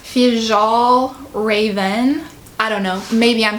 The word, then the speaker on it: Fjällräven: I'm pretty sure it's pronounced Fjällräven.